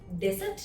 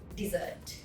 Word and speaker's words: dessert: Desert නෙවෙයි dessert.